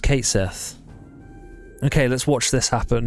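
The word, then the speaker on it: Cait Sith: there's no there's no there's no argument to be made there it's Kate Sith okay it's just Kate Sith okay let's watch this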